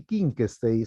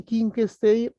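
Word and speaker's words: Wittgenstein: bien vamos con luigi king stage escribe being stage se pronuncia con ca inc state luigi king stage es el creador de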